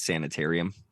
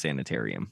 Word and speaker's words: sanitarium: I think you pronounced that wrong. It's Sanitarium. Metallica? Yeah. I can't read. It's fine. No. No, Jacob sent me Sanatorium. It's actually pronounced Sanitarium.